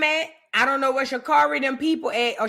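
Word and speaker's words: Sha'Carri: I don't know where Shakari them people at or Sha Carrie, that's how you say her name.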